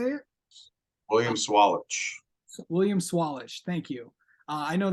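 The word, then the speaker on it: William Sawalich: me if I'm I've heard a lot of pronunciations of this name William salich is that how you say it William swalich William swallish thank you uh I know that um so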